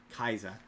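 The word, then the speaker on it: Kaixa: His name is Common Rider Kaisa. It's K axa. Kaisa is how they pronounce it.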